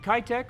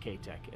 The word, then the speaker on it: Keitech: next place is it kaitec or k-tech jeff it's k-tec okay we're going to say kai-tec because that's probably how most of you guys know it but it is pronounced ktek as jeff gives me a